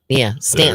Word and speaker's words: Staunton: Yeah, some of the Virginia towns are Stanton, There. Staunton.